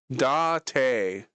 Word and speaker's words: Date: Dante, spelled like date. Dante sounds French. Yes, except there's no uh because there's no like little thing above the e. So that's why it's Japanese.